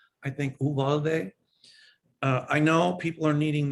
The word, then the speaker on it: Uvalde: of children in, I don't know if it's pronounced Uvalde, I think Uvalde.